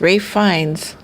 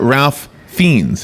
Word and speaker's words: Ralph Fiennes: Rafe Fiennes. Okay, well, there you go. Rafe Fiennes. But it's not Ralph Fiennes.